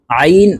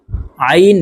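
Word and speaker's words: ع: মিম পেশ কুম জিনাকুম আইন আলিফ জবর আইন হরফকে হলকের মধ্যখান থেকে চাপ দিয়ে উচ্চারণ করতে হবে কারণ আইনের মাখরাজ হলকের মধ্যখান থেকে হবে আইন আলিফ জবর আ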